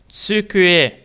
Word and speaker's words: 机: So it's tsukue.